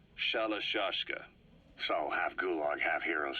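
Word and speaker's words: Shalashaska: known about that because somewhere along the line shoshka got stuck on the end of shiroshka the guerrillas were used in the name amongst themselves by the time I got to hearing about it pronunciation had wound up as shalashka so half Gulag half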